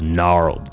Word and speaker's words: gnarled: dead stumps of trees gnarled g-n-a-r-l-e-d the g is silent if something is gnarled